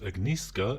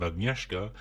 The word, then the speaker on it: Agnieszka: The chalist is pronounced agnisca instead of ageska and voad is pronounced as vadiswave.